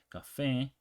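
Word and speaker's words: café: stress is lampar mus Cafe this was ends with an E so you would think the um stress is before that one before the last syllable but it's not because we have that accent Cafe can okay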